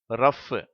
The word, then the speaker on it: rough: அடுத்த வார்த்தை ரஃப், அதுலேயும் இந்த GH இஃப் என்ற உச்சரிப்பை பெறுகிறது.